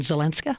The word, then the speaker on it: Zelenska: The feminine, I guess, in Ukrainian, Zelenska. Yeah, so the last names are feminized for women.